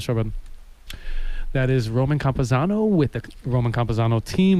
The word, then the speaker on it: Campuzano: Even though it's actually spelled kind of how it sounds, particularly like you pronounce the first four letters like in our Anglo tongue, Campuzano, yeah, for sure.